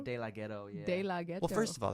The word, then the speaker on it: De Laghetto: with yeah what how do you say it della ghetto de la ghetto yeah well first of all that's not your